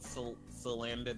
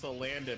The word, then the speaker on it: Salandit: For the longest time, I pronounced Salandit as Salandit. Well, it probably is like supposed to be pronounced that way. Is like Salamander. Salamander Bandit.